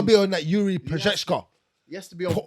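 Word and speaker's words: Procházka: Procheshka.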